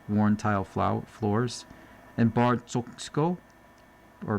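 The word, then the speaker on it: Txoko: polished mirrors and worn tile fls and bar choko or pronounced chco.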